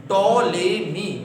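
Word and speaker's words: Ptolemy: टॉलेमी, मैं repeat कर देता हूं, टॉलेमी। टॉलेमी की थोड़ा स्पेलिंग भी थोड़ा समझ लेना। वो स्पेलिंग होती है पी से शुरू होती है, PTOLAMY, ठीक है ना।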